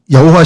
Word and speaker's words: 여호와: 우리 지난번에 했지만 원래이 발음은 야회에 가깝다고 이제 성경학자들이 얘기하는데 발음을 안 하다가 잊어버리니까 아도나이의 그 발음 그 모음을 차용해서 붙이다 보니까 여호와라는 발음이 나오는 거예요.